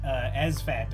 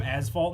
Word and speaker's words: Asfat: I was calling him Asphalt, and then I looked at his name when a comment came in. It's like, oh, there's no L in there.